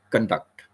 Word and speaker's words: conduct: my conduct I conduct so you know this emphasis is on the second syllable duct so then when we